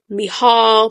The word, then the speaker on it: Michal: So the narrator, I'm going to pronounce her name Mikhail. I looked it up. They say you can pronounce it Mikhail, Michal, Michelle. I'm going to call her Mikhail, okay?